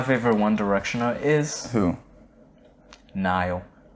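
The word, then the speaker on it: Niall: Nile. Nile. Singular. Nile. Not Niles. No.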